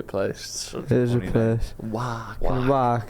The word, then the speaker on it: Wark: Wark. How do you spell it again? WARK. It really is Wark, and there's no other way to say it.